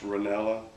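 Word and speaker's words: Renalla: n a l l a that's interesting it's pronounced ranella why her mother put an A in there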